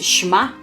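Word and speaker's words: שמע: Por exemplo, a palavra Shema, pronuncia-se Shema, é frequentemente traduzido como ouvir, mas também tem um significado muito mais amplo, mais profundo do que perceber o som.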